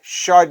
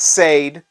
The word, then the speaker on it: Sade: for a debate chardey charde is how you say her name not Sade sure day and as a matter of fact the um the uh cassette and the original CD came out with a pronunciation right on it I mean that's her own label doing that now when she says her own name she kind of says shade but so it's kind